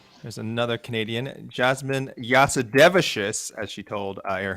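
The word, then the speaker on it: Jasudavicius: oh say it oh his Fright Night Time is official there's another Canadian Jasmine yasudevishis as she told uh air Hawaii that is how it's pronounced and that is how I will pronounce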